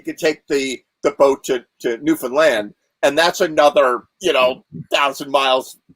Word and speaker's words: Newfoundland: Or worse, you get there, you get to Newfoundland, and first of all, they don't say Newfoundland up there. Like everybody I know says Newfoundland. It's Newfoundland. You punch land.